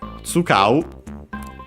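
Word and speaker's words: 使う: Tsukau. Actually, tsukau, because it should be unaccented.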